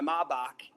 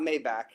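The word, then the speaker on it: Maybach: He's like, I pull up in my M my Mach because it's not Maybback.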